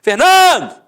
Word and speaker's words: Fernando: Por exemplo, Fernando! Ficou onde? A sílaba tônica? No NAN. Então você mata que a penúltima sílaba é a sílaba tônica.